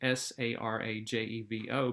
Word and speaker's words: Sarajevo: here in this particular graphic it looks like s-a-r-a-j-e-v-o but it's pronounced Sarajevo okay so in Sarajevo the Archduke